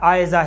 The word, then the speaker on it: عائزہ: عرض کر رہا تھا جو زال کے ساتھ عائزہ ہے اس تلفظ کے اعتبار سے بچی کا عائزہ